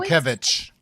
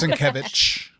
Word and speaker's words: Sienkiewicz: Sienkiewicz. Yes. Sienkiewicz. I always think Sienkiewicz. I don't know. Yeah, it's Sienkiewicz.